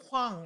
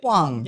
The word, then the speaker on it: Hwang: Did I pronounce that right? It's Hwang, actually. Hwang. Yeah. Okay, say that again so we'll do it right. Hwang.